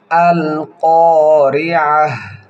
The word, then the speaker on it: القارعة: আল কারিআহ কিভাবে পড়ি খুব খেয়াল করবেন। আল কারিআহ আল কারিআহ মাল কারিআহ মাল কারিআহ এখানে কপে এক আলিফ টান হবে মধ্যে তবায়ের কায়দা আইন হলকের মধ্যখান থেকে উচ্চারণ হবে গোলতা হার উচ্চারণ হবে